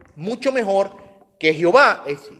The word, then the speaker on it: Yahweh: Otras personas admiten que una forma de pronunciarlo mucho mejor que Jehová es Yahweh. ¿Okay? Está basado en lo más cercano que tenemos a la verdadera pronunciación en hebreo.